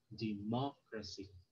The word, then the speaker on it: democracy: from the end syllable for example democracy so the third from the end okay this is the first uh last syllable second to the last the third to the last so Mo democracy okay geography allergy okay